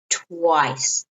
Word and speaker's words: twice: time and two times twice notice plantation is not twists but twist there what is twice so it's you kind of have to open your mouth like twice like nice okay twice twice so